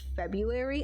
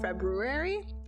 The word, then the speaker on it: February: got on our case you're saying February instead of February so now because she's like there's an r in there make sure you pronounce it and I'm like okay